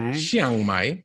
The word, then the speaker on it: Chiang Mai: made, which also led to you being in Chiang Mai. Did I pronounce that correctly? Yeah. Chiang Mai.